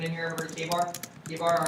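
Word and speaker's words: KA-BAR: We also make all K-bar knives. We also make all K-bar knives, and that's spelled K-A-B-A-R.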